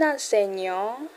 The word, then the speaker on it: enseignant: Un enseignant, un enseignant, enseignant, gnang. Get the G and give that gnang.